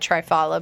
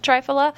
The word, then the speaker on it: triphala: some you need some I call it trifala but it's probably pronounced triphala but it's spelled for